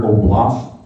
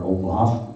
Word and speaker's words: oblast: Commons and it's like their oblas or oblast is how they pronounce it is is like